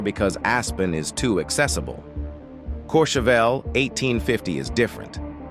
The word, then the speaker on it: Courchevel: Which brings us to the second most private neighborhood on Earth, Courchevel, 1850, France, pronounced Courchevel.